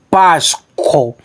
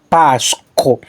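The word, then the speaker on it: πάσχω: era esse aqui ó pásco ou pas c b tônica é a primeira ó pas isso aqui é um R tanto posso pronunciar como ro beng cultural como ch co pasco referência 3958 de strong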